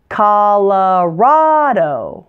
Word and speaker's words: Colorado: your eyes fool you the first two O's are not pronounced oh they're pronounced ah but the final O is a long o so stretch it out